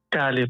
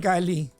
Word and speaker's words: Kali: Kali po. Spell. K-A-L-I. K ba? K? K po. Spell it as like you pronounce it.